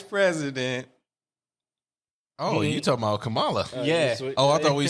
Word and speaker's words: Kamala: i said it wrong i said it wrong and i started saying it too it's kamala said it wrong yeah